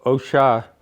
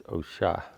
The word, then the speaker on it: osha: can sell it so OSHA is pronounced with an accent on the a Oh sh a with an accent so it's OSHA probably derives from one